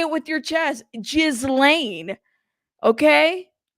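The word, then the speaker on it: Ghislaine: it with your chest jiz Lan okay G with a hard G okay that's right she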